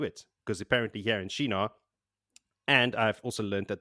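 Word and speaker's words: Shienar: like well do it because apparently here in Shina and I've also learned that the pronunciation is Shina but these people are not shy at all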